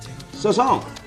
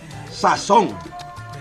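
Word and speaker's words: sazón: Yes, pronounced just like that, sazon. Or, if you know how to say it, sazon.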